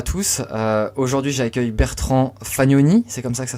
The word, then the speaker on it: Bertrand Fagnoni: Aujourd'hui, j'accueille Bertrand Fagnoni, c'est comme ça que ça se prononce ?